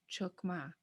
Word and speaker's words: chokma: really hear people saying chokma chokma unless they don't know the language so how do you know it's supposed to sound like a u chokma here's another example tali